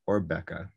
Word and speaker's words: Åbäke: Although before this lecture, he explained to us that the proper pronunciation is Åbäke.